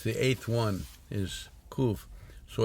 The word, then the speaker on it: Qof: think of number 19 the letter is coof cool yeah it they spell it in the way it was spelled in one of them is k-o-o-o-f yeah just like roof you know roof cool